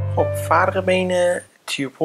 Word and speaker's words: tuple: خب الان اگر تی رو نشون بدم میبینید که تیوپل ساخته شد. خیلی ها میگن توپل تو زبان فارسی، توپل نیست، تیوپل. اینجوری باید تلفظ بکنید.